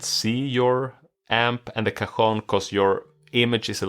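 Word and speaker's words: cajón: chair you know again can you pronounce the name of this yeah kahone kahon we call it a kahon yeah yeah exactly yeah c a j o n right you know probably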